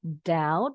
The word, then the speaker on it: doubt: Disambung, doubt, the B is silent. So we pronounce it OU sebagai AU, langsung ke huruf T.